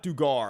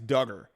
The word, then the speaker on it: Duggar: how to pronounce this it's not dugar i knew i pronounced that wrong the other day in my video is it i think it's duggar stephen duggar i'm sorry i'm